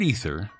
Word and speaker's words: aether: The word ether, actually, let's give it its correct Greek spelling since the pronunciation is the same, A-E-T-H-E-R.